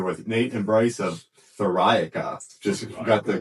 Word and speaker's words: Theriaca: We're here with Nate and Bryce of Thoria. Just got the correct pronunciation today after talking about this band for months and months.